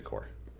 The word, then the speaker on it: Corps: know you read something says cor PS you want to say the corpse in the description is I will be saying the core and I word I'll